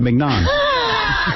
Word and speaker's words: mignon: So Scott says, you're pronouncing it right, mignon.